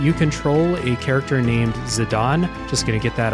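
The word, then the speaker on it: Zidane: control a character named zidon just going to get that out of the way real quick that's how I pronounce his name like the headbutting soccer player are we uh are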